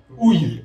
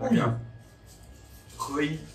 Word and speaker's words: Houilles: Ouille. Ouais, voilà. Oui. Ouille. Carrière-sur-Seine. Et ouille, ça fait aussi aïe. Comme la douleur. Ouille.